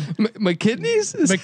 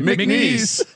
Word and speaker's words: McNeese: McKinney's? How do you pronounce it, Colby? McNeese.